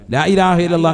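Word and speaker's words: لا إله إلا الله: ലാ ഇലാഹ ഇല്ലല്ലാഹു. അപ്പൊ ഒരെണ്ണമായി ലാ ഇലാഹ ഇല്ലല്ലാഹ്. അവസാനം നീട്ടി ഹാന്റെ ഉച്ചാരണം കൊടുത്ത് തന്നെ നിർത്തണം. ഇതെങ്ങനെയല്ലെന്ന് ലാ ഇലാഹ ഇല്ലല്ലാഹ് ലാ ഇലാഹ ഇല്ലല്ലാഹ് ഇന്നാ പിടിച്ചോ ഇത് ആർക്ക് വേണം നിന്റെ ലാ ഇലാഹ ഇല്ലല്ലാഹ്?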